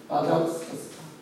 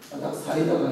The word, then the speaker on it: 아닥사스다: 아닥사스다. 발음자는 아닥사이다가 아니고 사스다이. 아버지 이름이 누구냐면 우리가 에스더 왕의 남편이었던 아수에로.